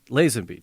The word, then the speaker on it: Lazenby: Lazenby.